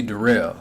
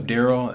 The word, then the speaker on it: Darrell: My name is actually Darrell. So like everybody hears the joke from Saturday Night Live is, oh, my name's Darrell. It's spelled like Daryl, but it's pronounced Darrell.